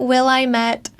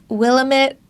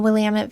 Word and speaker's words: Willamette: You pronounce it Willamette, not Willamette. Willamette, that's another popular one. It is Willamette. You're going to find that the largest cities in town in the Willamette Valley are right alongside the river, which means